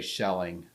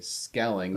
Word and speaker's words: Skelling: SK skelling okay even though skelling is a a German name okay the German language would say shelling but because we came out of the Netherlands we say skelling because that's how they would pronounce it I'm with you so